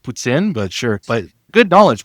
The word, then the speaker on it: poutine: It's pronounced poutine, but sure.